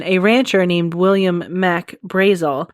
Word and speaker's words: Brazel: And a rancher named William Mac Brazel, I think that's how you pronounce it. I'm going to spell it for you. It's B R A Z E L.